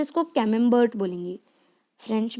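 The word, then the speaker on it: Camembert: Okay, और English में इसको कैमेम्बर्ट बोलेंगे, फ्रेंच में कामेम्बर्ट। ओके, टी का प्रोनाउंसिएशन नहीं करेंगे, कामेम्बर्ट, और इंग्लिश में बोलेंगे कैमेम्बर्ट।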